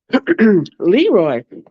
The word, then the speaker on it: Leroix: Leroy. Leroy. I love the fact that Leroy's name is spelled Leroix.